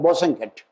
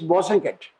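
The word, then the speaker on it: Bosanquet: the third one is bosenkid my teachers used to pronounce the name with the emphasis the last t also should be pronounced wasn't it and wasn't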